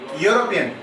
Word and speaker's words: European: So the sound of this U is starting with ya.